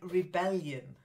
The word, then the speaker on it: rebellion: it then forbidden then Rebellion Rebellion yeah we say rebel but Rebellion Rebellion then colored colored very